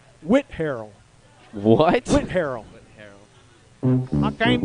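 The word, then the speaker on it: Whitharral: can't read your head withdrawal withdrawal like i'm suffering from withdrawal i would have said wither all but they want you to say whit harrell what went harold i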